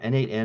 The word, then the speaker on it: n8n: N8, and how do you pronounce that? Is it a NAN? I guess Is it a N8N or either? Yeah, N8N it's an automation project, similar to Node-RED, if